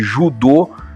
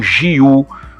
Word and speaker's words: Ju: Então, Jujutsu seria a arte suave, a técnica suave, e Judô seria caminho suave, né? Então, através disto, a gente comprova que sim, né? A primeira sílaba da arte marcial japonesa seria Ju e não Jiu, como se, digamos assim, né, se ocidentalizou, né?